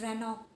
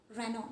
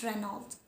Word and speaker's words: Renault: Now this one, it is pronounced as Renault. Renault, not Renault, Renault.